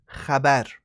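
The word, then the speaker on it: خبر: Even when you say apa kabar, like any news, the word kabar in Farsi is khabar.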